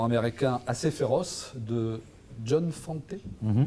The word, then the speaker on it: Fante: L'histoire du film est une adaptation d'un roman américain assez féroce de John Fante, on prononce comme ça.